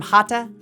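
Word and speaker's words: Hatha: a gentle practice yoga which sounds like hot and ta rhymes with LA and Pa and Ma and not like bath or math is an umbrella term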